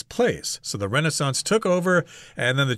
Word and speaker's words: Renaissance: European history called the Renaissance I think I've heard people pronounce this as Renaissance as well but the North American pronunciation is Renaissance that's when there was